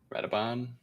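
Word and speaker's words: Radobaan: Rabadan, is it? What's it? How do you say his name? Radoban.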